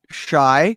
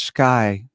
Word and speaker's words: Schy: So as you introduced me as Schy has been so appropriate because my entire life, since third grade, the teacher and Shyler, it's actually pronounced Sky. Just so you know, you said I said Schy.